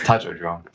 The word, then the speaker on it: Tatko Drom: Now, I should have checked the pronunciation of all of those, actually, but no, it's Tatko Drom.